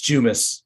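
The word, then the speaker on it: Jumes: Mr Brown um Dr Zoom good morning good morning am I pronouncing your name correctly it's jumis j-u-m-e-s okay jumis I'm sorry um Dr jumis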